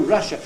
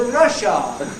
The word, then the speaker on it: Russia: the USSR you know Russia if you pronounce that and say the r at the end then you have produced another totally different English word a very good pronunciation